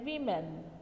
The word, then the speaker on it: women: हो रही है तो हम उसको लिखते हैं WOMEN और इसे प्रोनाउंस करते हैं वीमेन।